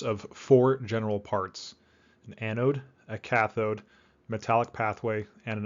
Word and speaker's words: anode: before we move on anode is pronounced anode not anoid all right so we're